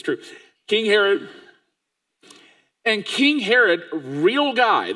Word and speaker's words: Herod: his name yes King Herod I always feel weird as name rhymes with mine but it's true King Herod and King Herod real